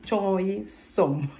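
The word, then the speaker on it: choi sum: Et il y a notre légume du jour qui fait succès, choy som. On va parler chinois, chinchon, choy, choy, som. Donc, ça s'écrit C-H-O-I-S-U-M, choy, som.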